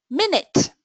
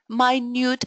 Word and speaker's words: minute: um obvious yeah I will be there in a minute a little unit of time but this word has different pronunciation and different uh meaning that's a very minute amount minute tiny small